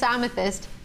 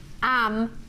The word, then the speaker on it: amethyst: And somebody had written to pronounce amethyst, am-er-thist. All of a sudden there's an R in amethyst.